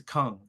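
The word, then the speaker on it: Küng: book written by a Catholic theologian named Hans Kung, if I'm pronouncing it correctly. Hans Kung, yes, Hans Kung.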